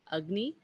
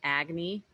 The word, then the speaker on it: Agni: Agni, that's the short A, so it's pronounced like a sound rather than Agni, Agni.